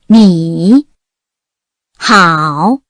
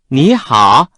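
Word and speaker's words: 你好: 이런 경우에 중국인들은 앞에 오는 삼성을 이성으로 바꿔서 발음합니다. 삼성 플러스 삼성을 그대로 읽은 경우입니다. 你好， 앞에 삼성을 이성으로 바꾸어 실제 생활에서 읽는 경우입니다. 你好，你好， 네 글자 성조 연습 시작하겠습니다.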